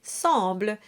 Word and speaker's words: semble: And finally, semble is a straightforward sound, a nasal en.